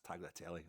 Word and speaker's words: tagliatelle: How do you pronounce that? It's tagliatelle.